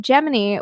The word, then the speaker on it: Gemini: screen names fun in 1965 NASA published a blurb in a newspaper clearing up that Gemini was to be pronounced like jiminy as in jiminy exactly I actually have a